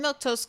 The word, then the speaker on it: Milquetoast: I'm Miltos. That's how you say my name in case you were wondering.